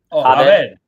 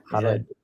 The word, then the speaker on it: Javed: In university, people used to pronounce my last name as H because they thought it was Spanish name. Javed. Yeah. Javed.